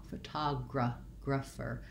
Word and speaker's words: photographer: looks like graph, and again doesn't sound like graph in this word. Rather than an a clear vowel, again we go back to our schwa, photographer. So I will write it as a gr syllable, and then again another ph that says the f sound. Finally ending in my which is still my tense sound but unstressed, so short, photographer.